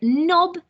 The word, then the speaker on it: knob: grasp on to so knob needs to be spelt with a silent k so that should be